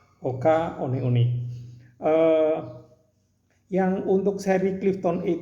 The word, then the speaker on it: Hoka: hoka one one ini ingat ya bacanya ini adalah hoka one one Jadi bukan hoka one one supaya kita agak gaul gitu loh jadi harus tahu kalau bacanya ini adalah Oka oleh-oleh yang untuk seri